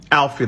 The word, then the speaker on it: Alfie: Alfie, like the song Alfie, look him up.